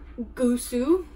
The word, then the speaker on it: gusu: So this is gusu. Gusu. This is pig. So we didn't always have pig. So this was a word that came after the white man. So it's pronounced like a G if followed by a vowel.